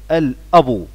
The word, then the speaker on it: الأب: جمع الأسرة الأسر، الأبو، وخلي بالنا من نطق كلمة الأبو لأن احنا هنا الباء مش عليها شدة زي كلمة الأم، لا هنا الباء مش مشددة، فاحنا بنقولها ايه يا ولاد؟ الأبو.